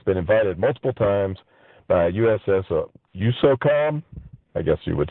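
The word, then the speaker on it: USSOCOM: How do you say it? I just say SOCOM. SOCOM.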